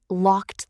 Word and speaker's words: locked: Now for the t sound with the e d ending. locked the door Again, think t. Make sure you're not saying locked the door. That's incorrect. Say locked.